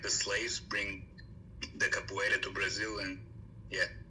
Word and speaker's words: capoeira: Capoeira. Capoeira.